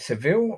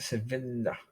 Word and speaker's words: Sevilla: Is it Seville or is it Sevilla? That's a Spanish team. Not sure. Again, I think it's slightly disrespectful trying to pronounce it in a Spanish accent when you're not Spanish. Because you're likely to get it completely wrong. In which case, yeah, Seville. That'll do.